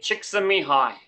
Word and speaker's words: Csikszentmihalyi: I have great difficulty pronouncing his surname. Anyway, Mihaly Csikszentmihalyi.